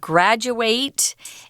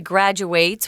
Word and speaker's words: graduate: It's similar to the verb graduate, and the person who actually graduates, which is the verb, is called the graduate.